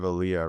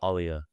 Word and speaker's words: Alia: Um, you're the co-founder of Aaliyah, right? It's pronounced Alia. Alia.